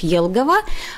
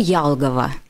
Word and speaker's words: Елгава: котором была допущена ошибка город Елгава в русской транскрипции пишется с буквы е да чат gpt написал нам с буквой ялгова Да мы понимаем что